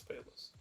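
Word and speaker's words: Peleus: Is it Palus or Palus? Well, the way it's spelled is P-E-L-U-S. Oh, okay, yeah. Yeah, that's Palus.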